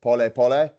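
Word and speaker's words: pole pole: and it's spelled Paul Paul but they they pronounce it po po which just means slowly slowly nice yeah the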